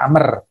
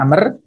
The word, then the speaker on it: Amr: sanad pada silsilah perawi Jadi kalau tulisan Ain mim itu bacanya Amr Kalau tidak ada bahunya itu bacanya Umar jadi ini bacanya Amer jawabannya nggak dibaca seperti Ammar beda sebenarnya begini kalau Umar